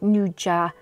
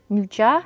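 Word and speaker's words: 'nduja: put up on screen but nja nja is how you say it I love it it's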